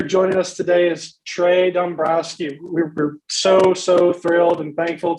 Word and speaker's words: Dombroski: Yeah, so Dombroski. So kind of like the Phillies GM, right?